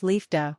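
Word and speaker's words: liefde: it like this the first part is Lee as in Lee then comes EF the comes with Lee but the F you pronounce like you pronounce f the de is easy just pronounce it like Doug Sacra canar is a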